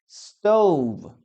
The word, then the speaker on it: stove: Ok, chicos, entonces, cuando hablamos de stove, lo primero que tenemos que acordarnos es la última, o el último sonido, ¿no? Stove, stove. No es stove, ¿ah? No es a pronunciar stove, ¿ok? Siempre que veas la V, esta tiene la pronunciación.